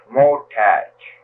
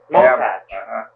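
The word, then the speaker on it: Motots: Motach. Motach. M-O-T-O-T-S. That's the way it's pronounced, so Motach. But that's the way it's written. I see. Motach, but spelled Motat, huh?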